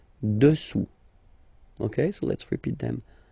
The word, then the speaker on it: dessous: Final S not pronounced here. Dessous.